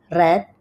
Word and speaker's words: read: Untuk read membaca penulisannya sama tetapi bacanya beda ya. Jadi read red read ya.